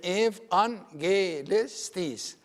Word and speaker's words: evangelistis: And this is pronounced the V. Why? Because it's preceded by the E letter, and then evangelistis.